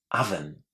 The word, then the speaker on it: oven: We see the letter O at the beginning. And of course, what do we do? We want to say O. But guess what? In English, this is pronounced as oven.